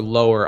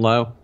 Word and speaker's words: Lowe: Brandon Lowe. Brandon Lau, yeah, I think it's Lau. Adam told me. Is it? Why? Fuck, it's spelled like Lowe.